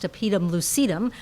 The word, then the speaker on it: tapetum lucidum: back of the eye the topedum or the tapetum lucidum i've also heard it pronounced to pietum lucedum i kind of like that pronunciation because it is rhyming but the active animal